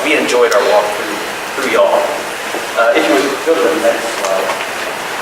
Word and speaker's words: Youghal: It's spelled Y-O-U-G-H-A-L, but it's pronounced y'all.